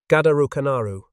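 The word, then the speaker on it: ガダルカナル: Gadukanaru, a bitter play on the Japanese pronunciation of the name.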